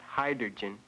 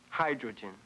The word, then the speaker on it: hydrogen: I'm sorry, but you're wrong. Not hydrogen. You transposed the R sound. The word is pronounced hydrogen.